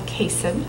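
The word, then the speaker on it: CAISN: partner and this year the way that this acronym is pronounce is just like it reads it's called Kasem and it's 10 floors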